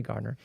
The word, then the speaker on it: Gardner: It's spelled Gardner, but it's actually Gardner.